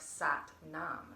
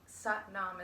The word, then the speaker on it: Sat Nam: simply means really and it is pronounced to rhyme with but mom so now you know what satnam is all about thank